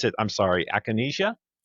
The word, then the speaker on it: Acanasia: But you pronounce it I'm sorry. Aanesia. Aanesia.